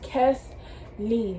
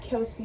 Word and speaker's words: Kesley: is kesley k-e-s-l-e-y kesley rhymes with leslie leslie kesley my name is kes lee not kelsey not cassidy but kes lee okay so that's my